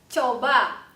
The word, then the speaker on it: coba: coba, jalan, 好，再一次。